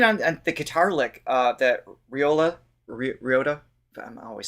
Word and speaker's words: Ryota: The choices, even on the guitar lick, that Ryota, I'm always saying his name wrong. Ray Liotta, yes. Not Ray Liotta. No, we have established that as incorrect.